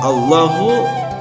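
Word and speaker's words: الله: Hai athi'ullaha Dina dalam lafadz Allahu itu disebut dengan alif lam jalalah dibaca tafkhim jadi kalimat ini adalah tebal ketika membaca lafadz Allah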